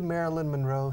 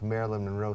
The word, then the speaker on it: Marilyn Monroe: Could Marilyn Monroe sing like an opera star? In my opinion, no, she couldn't. Ask Mercedes if Marilyn Monroe sang in some of her movies.